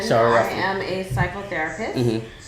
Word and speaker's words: Shara Ruffin: Miss, I don't want to pronounce your name wrong because I've seen somewhere else somebody pronounce it. My name is Shara Ruffin. Shara Ruffin.